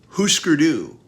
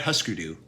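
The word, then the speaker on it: Hüsker Dü: we're almost to the halfway point Husker do it's Husker do right not huskerdu yeah that's what I've always thought it was huskerdu I've heard it pronounced different ways thing I think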